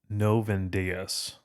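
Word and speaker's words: Novendiales: And there's a 9-day mourning period, and the way in which you pronounce this word that basically describes that is, I believe it's Novendeus, and the etymology is, I believe noven comes from the Latin novum, which means 9, dies, which means day,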